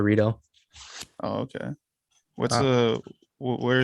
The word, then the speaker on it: Rito: all right cool cool what's up Rito right that's how you say it yup burrito burrito some people say Mexican jarito but you I prefer Rito oh okay what's the